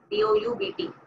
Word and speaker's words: doubt: Now the thing is, हम गड़बड़ करते हैं, एक हम लोग डाउट करते हैं, क्या करते हैं, doubt, डाउट, द B silent, you know what's डाउट, शंका, आशंका, वी डाउट ourselves and वी डाउट the entire universe, we डोंट trust.